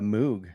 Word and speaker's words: Moog: Bob Moog himself, he said it's pronounced like Vogue. So Moog.